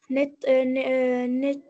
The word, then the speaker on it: n'étaient: jeunes n'étaient Mhm. Mhm. plus les mêmes qu'ils n'étaient. N'était, s'il vous plaît. Lorsque vous trouvez A-I-E-N-T, ça se prononce E.